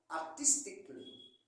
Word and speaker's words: artistically: Nous avons artistically. Dans tout ça, le Kali, c'est le C-A-W-L-L-Y. Le A ne se prononce pas. Physically, artistically, comme vous voyez sur la liste.